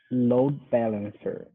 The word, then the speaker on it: load balancer: would say load balancer load balancer that sounded pretty good load balancer now on this word i would emphasize um load more than balancer um it's common with